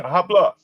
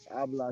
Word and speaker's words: habla: Habla. Habla español. This is a motherfucker said to me. Let's see. H is silent. Habla. Habla español, right?